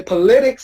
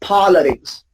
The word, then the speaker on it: politics: Please don't say politics, okay? Politics. It's so tempting to pronounce that way, but it's wrong. It's politics.